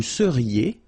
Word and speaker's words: seriez: Vous seriez. So here when you've got this EZ at the end, then you get the sound E.